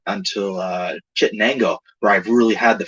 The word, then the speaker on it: Chittenango: The thing that's neat about the Chittenango, if I can say that, that's actually how it's said, but boat landing on the Erie Canal is that it's like all the original buildings.